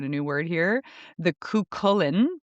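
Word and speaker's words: Cú Chulainn: The Cuchulainn. Cuchulainn, that is correct.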